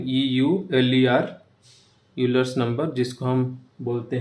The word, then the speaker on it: Euler: और एक एग्जाम्पल है यूलर्स नंबर। तो स्पेलिंग EULER, यूलर्स नंबर, जिसको हम बोलते हैं ई बोलते हैं।